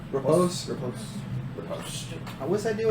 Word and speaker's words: riposte: Is it riposte? Repose?